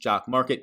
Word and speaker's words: Jock MKT: you're looking at it it's jock MKT pronounced jock Market go get it in